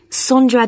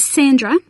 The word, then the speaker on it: Sondra: your name was again sondra is that sandra no it's spelt with an o so that's s o